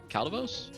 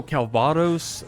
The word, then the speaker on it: Calvados: Oh, I forgot how to pronounce Calvos? Oh, Calvados.